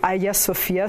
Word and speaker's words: Hagia Sophia: Les incontournables d'Istanbul, la basilique Sainte-Sophie ou Hagia Sophia, si on le prononce en grec, c'est une ancienne basilique